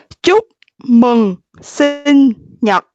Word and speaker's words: Chúc mừng sinh nhật: Chúc mừng sinh nhật.